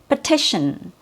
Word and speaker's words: petition: The first T has a true T sound, T. Petition. The second T has an SH sound, shin. So it has an SH sound like in the word ship, shin, petition.